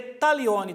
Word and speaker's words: Taglioni: Se lê Taglioni, tá, gente? Se escreve com G, mas é Taglioni que se lê.